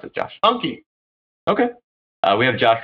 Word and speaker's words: Anki: How do you pronounce it, Josh? Anki.